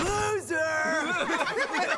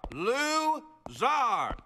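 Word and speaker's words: Louzar: Loser! It is pronounced Zar. Lou-Zar.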